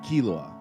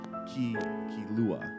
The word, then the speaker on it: Killua: I am saying Killua. It's not Killua. It's the difference of emphasis there. Emphasis. Right. I'm putting the emphasis on the wrong syllable.